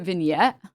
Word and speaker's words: vignette: Is it vignette? But isn't it like a French word? Do you really pronounce a T on that? Is it not vignet?